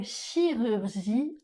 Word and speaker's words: chirurgie: Dans le mot chirurgie on utilise le son /y/.